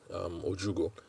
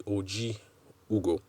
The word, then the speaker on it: Oji Ugo: Although she corrected me that it's not Ojugo, because I've gone my whole life pronouncing the name Ojugo. She pointed out that there's an I in there. And I confirmed from my wife that that is the case. So it's actually Oji Ugo.